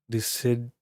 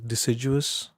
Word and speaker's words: deciduous: Deciduous.